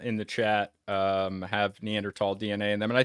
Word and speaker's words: Neanderthal: talked to an archaeologist just say neander tall because if you don't they will completely condescend you um well it's actually